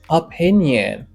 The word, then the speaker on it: opinion: Nyen. Nyen. Entendez, c'est pas nyon. C'est nyen. Opinion.